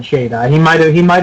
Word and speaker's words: Shada: Shada before uh no Tom Baker pronounces it Shada I've heard literally everyone even in the BBC called it shot but okay in in the in the serial itself they called it Shada so that's what I'm